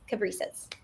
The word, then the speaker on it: Cabrices: Cab, like a taxi cab, rice, which I love to eat, and then an S at the end. So, cab, rice, s, cabas.